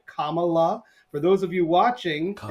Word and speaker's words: Kamala: Vice President Kamala Harris, let's say her name right, Kamala.